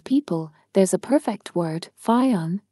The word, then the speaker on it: Fionn: To capture the essence of Ireland and its people, there's a perfect word, Fionn, pronounced F-U-N.